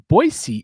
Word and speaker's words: Boise: together at TRCMA in Boisee, Idaho, which Boisey is the correct way to say it. Boyisey, if I said Boise, like, if I'm clearing customs and I say Boise, I'm not let in.